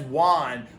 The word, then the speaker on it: won: You might go, oh, it says won, but usually people say like what so that's a schwa. So it sounds like a U, but it's actually spelled with O.